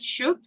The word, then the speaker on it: should: Should. We don't pronounce letter L, right? We generally say should is the similar pronunciation as could, right? Should, could, right? We omit letter L, right?